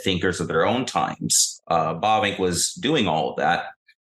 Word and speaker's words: Bavinck: profess being, and you say it right, actually, Bavinck.